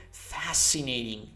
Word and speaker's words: fascinating: Perché il suono SH in inglese si verifica quando abbiamo la scrittura SH generalmente, ok? Quindi quando vedete SCI, fascinating, ok? Non abbiate paura di pronunciarlo così, quella è la pronuncia.